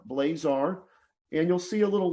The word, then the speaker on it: Blazar: so my website is just www dot blazar dot com my last name is spelled b l a z like zebra a r blazar and you'll see a little link there up